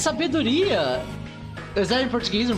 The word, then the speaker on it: sabedoria: Oh, it's sabedoria.